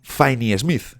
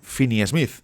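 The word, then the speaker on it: Finney-Smith: decíais el otro día que no es Dorian finy Smith sino Dorian finny Smith creo que ahora lo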